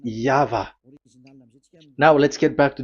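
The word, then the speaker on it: YHVH: Y H V H. So it is YAHVAH.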